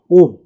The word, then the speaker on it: ohm: 이거는 오음이라고 읽죠. 오음, OHM, 오음.